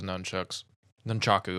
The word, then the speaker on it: nunchaku: this movie where he uses the nunchaku, I should say, is the correct pronunciation.